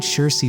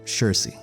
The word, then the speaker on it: Saoirse: But I decided to go with Saoirse Ronan. Yes, that's actually how you pronounce that word, Saoirse.